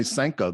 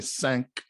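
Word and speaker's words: cinq: isn't it though but they don't say senko they say sanc it's not senko in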